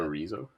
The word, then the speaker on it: chorizo: chorizo, It's chorizo. El chorizo. What did you say, Scott? chorizo, Chorizo. chorizo. What? Chorizo. Oh my God. The C. It's like Barcelona.